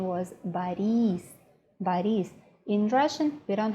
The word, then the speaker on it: Boris: his name was very gentle his name wasn't Boris his name was buddies buddies in Russian we don't have words we